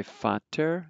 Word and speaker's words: Vater: So you could say Vater, which is the word for father, but you pronounce the V like a F, and then water